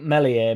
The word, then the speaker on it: Meslier: I think Melier melier silent s will have a better career over his entire career than Joseph does.